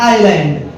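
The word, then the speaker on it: island: या आइलैंड बोलते हैं स्पेलिंग इसकी देखिए जलैंड लिखा है ना लेकिन क्या बोला जाता है आंड आइलैंड तो एक पास के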